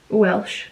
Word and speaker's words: O'Welsh: Is it Megan Walsh or Megan O'Walsh? Let me check. Megan O'Welsh. O'Welsh, not Walsh.